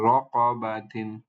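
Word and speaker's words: رَقَبَةٍ: এরপরে তা মারবু, তা আসছে এখানে তানবিন কাসরা সহ, এটার উচ্চারণ হয়ে যাবে তিন। এটা শব্দ বা সাউন্ডটা হবে তিন। তাহলে র ক বা তিন, এটাকে কিভাবে পড়বো?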